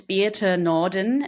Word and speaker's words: Birthe Nohrden: about myself you uh my name is Bea nordan it's it's spelled a little bit differently but my background is German uh so I grew